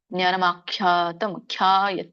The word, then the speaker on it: ಆಖ್ಯಾತಂ: ಜ್ಞಾನಂ ಆಖ್ಯಾತಂ ಖ್ಯಾ ಒತ್ತಿ ಹೇಳಿ, ಕ್ಯಾ ಅಲ್ಲ ಖ್ಯಾ.